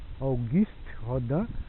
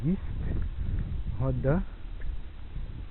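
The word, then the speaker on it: Auguste Rodin: Depois do nosso torço aqui feito por Rodan, guist rodan, né, como se fala em francês, né, ou guist rodan.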